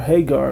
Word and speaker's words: Hagar: Because Sarah was barren for a while, so he had a son under Hagar, or Hagar, as some pronounce it, okay?